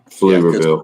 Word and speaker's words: Pflugerville: Pflugerville. People that don't understand, Pflugerville is spelled PF. I gotta go back. Yeah. Pflugerville. Pflugerville. So the P is not there, but it's there when you write it.